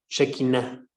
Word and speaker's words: Shekinah: Shekinah se escribe S-H-E y luego lo demás, como se escucha, Shekinah, ¿sí?